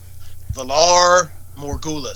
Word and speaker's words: Valar Morghulis: Valar Morghulis.